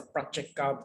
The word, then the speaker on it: Pratyeka: This is the Pratyeka Buddha, pronounced as a Pratyeka Buddha, 就是必知佛啦 in Mandarin, Pratyeka Buddha.